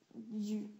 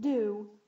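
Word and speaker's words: du: And de and le changes to you, not do, you. Just, it rhymes with our word tu, like you.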